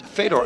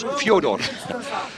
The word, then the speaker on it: Fedor: It's not Bass Raton and it's also not Fedor. Apparently, it's Fodor.